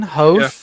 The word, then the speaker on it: Hoth: Let's do the canon pronunciation. Hoth.